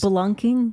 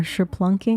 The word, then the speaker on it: spelunking: All the questions about his spelunking or sherplunking.